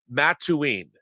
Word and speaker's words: Mattoon: summer nice very good now Mattoon is that the correct pronunciation that's correct okay good because I